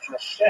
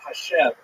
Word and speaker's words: Hashem: And the word Hashem, of course, is pronounced with the letter H. But there is no letter H in the Russian alphabet. So in order to indicate that it should be pronounced as an H, they took the letter